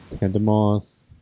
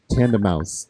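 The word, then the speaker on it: Tandemaus: Tandemos. Tandemouse. Oh, tandem and mouse in German, the way it's spelled.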